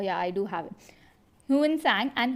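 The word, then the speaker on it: Xuanzang: i do have it huin sang and huin sang is written in this manner but he's pronounced as one song so faheen and one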